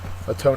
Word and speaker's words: atone: word is a tone a tone is a verb second syllable is accented it means to make